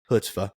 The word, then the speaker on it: chutzpah: I think everybody has enough, chutzpah.